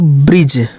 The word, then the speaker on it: bridge: जैसे BRIDGE, तो ब्रिज, ब्रिज, ब्रिज, बीच में डी को छोड़ दिए, ठीक है।